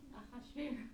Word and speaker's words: Achashverosh: Achashverosh. Nope. Achashverosh is how we say it. They say it Artaxerxes.